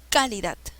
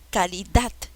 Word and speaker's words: calidad: no tampoco es calidad cuál es la sílaba que se lleva la mayor fuerza de voz es por ende calidad es una palabra aguda porque lleva la mayor fuerza de voz en la zona roja lleva la mayor fuerza de voz de la última sílaba bien cuando se tilda